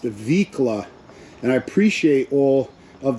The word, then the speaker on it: Vicla: Someone told me it's pronounced Vicla, and I appreciate all of the comments.